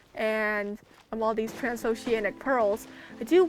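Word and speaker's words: Pers: penguin guy it's named pear um p e r s so the S is silent I really do want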